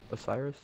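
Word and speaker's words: Oceiros: how do you say his name again Osiris Osiris I got his soul fine work find work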